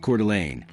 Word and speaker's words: Coeur d'Alene: Number 11, Coeur d'Alene, Idaho. First, let's address the name. It's pronounced Coeur d'Alene.